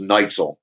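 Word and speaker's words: Nietzel: In Germany, they pronounce it backwards. So it's Neitzel.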